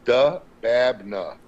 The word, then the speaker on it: Dababneh: I'm not attempting it it's really phonetic brother it's du babna okay there you go